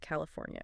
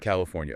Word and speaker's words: California: Make sure you get that fornia sound at the end. California. California.